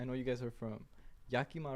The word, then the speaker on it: Yakima: I know you guys are from Yakima, right? Yeah. We had like this whole conversation how to pronounce it. My boy Kiko is saying Yamaha.